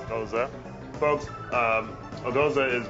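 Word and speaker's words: Gose: Pronounced Goza. Goza, folks.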